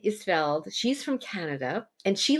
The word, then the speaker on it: Isfeld: Isfeld.